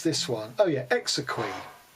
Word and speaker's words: exequy: Okay, oh my goodness, how to pronounce this one? Oh yeah, exequy.